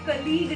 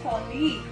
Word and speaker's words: colleague: Meet my colleague नहीं होता है, the correct pronunciation is colleague.